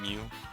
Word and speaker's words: Mew: Is that how you say it, right? Or is it Mew? Or Mew? I think it's Mew, like the Pokemon.